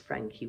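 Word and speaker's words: Franchi: Yes, it's pronounced Frankie with that CH. It's an Italian name.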